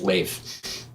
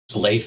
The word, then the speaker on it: Leif: of you wondering yeah it kind of looks to us Americans like Leaf Ericson it's actually pronounced LEF LEF Ericson day and I've